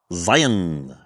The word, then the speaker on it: Zion: Hurricane, Utah, located near Zion National Park. And yes, those are the proper Utah pronunciations of those two words.